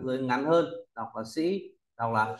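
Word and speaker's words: 士: dài sổ ngang dưới ngắn hơn đọc là Sĩ đọc là s Đọc mạnh ch s s sử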